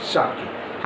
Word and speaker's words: Schottky: हाँ, इसका सही प्रोनाउंसिएशन क्या है, शॉर्टकी।